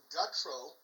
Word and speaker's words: Gutro: Tonight we have Rob Gutro. Am I pronouncing your last name right?